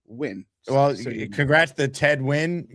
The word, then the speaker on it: Nguyen: It's not pronounced Nguyen. It's a Vietnamese name. It's Ted Nguyen.